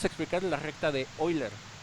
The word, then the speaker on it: Euler: explicar la recta de hoy leer si escribe euler se pronuncia hoy leer de qué se trata